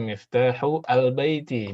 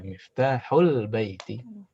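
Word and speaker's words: مفتاح البيت: Seperti al ya, seperti al, biasanya yang baru belajar, aina miftahu al-baiti, bacanya gitu ya kan? Nah, kalau yang dipakai, yang biasa dibaca oleh orang-orang, aina miftahul baiti. Ini sama. Al-baiti. Di sini hamzah wasal juga.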